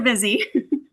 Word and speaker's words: Busy Bank: Hopefully they're busy. That's funny. I would say I would say pronounce it busy.